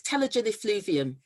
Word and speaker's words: telogen effluvium: i am i pronoun i can't pronounce it correctly it's telogen effluvium okay yes so so